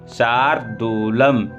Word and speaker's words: शार्दूलम: इसके बाद देखें, वशिष्ठम मुनि शार्दूलम, शार्दूलम सा है उसके बाद रा का उच्चारण, फिर दूलम, शार्दूलम विश्वामित्रम च गोभिलम व्यासम मुनिम नमस्कृत्य सर्वशास्त्र।